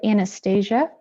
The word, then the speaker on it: Anastasia: Am I getting your name right, Anastasia? Or is it Anastasia? It's actually very close. My name said Anastasia.